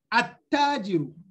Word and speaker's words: التاجر: I say, At-tajiru, At-tajiru. I give the Ta Shadda, and from the A, I jumped to the Ta, At-tajiru. So I don't pronounce the Lam.